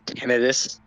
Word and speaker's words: tinnitus: Did you know the proper pronunciation of the word tinnitus is tinnitus?